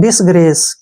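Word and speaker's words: disgrace: सी से स और ई का उच्चारण हम नहीं करेंगे डिसग्रेस क्या पढ़ेंगे इसको डिसग्रेस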